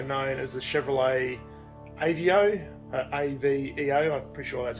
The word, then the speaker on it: Aveo: So in some other markets this was also known as the Chevrolet Aveo, A-V-E-O, I'm pretty sure that's how you pronounce it, Aveo.